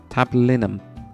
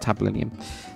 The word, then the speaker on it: tablinum: tum tab tab linium tab linum not not tab linium so this is I'll